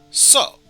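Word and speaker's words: そ: up a single syllable you pronounce this one as so so basically the same thing as uh sewing some clothing that you want to mend up or reaping what you sew so but yes let's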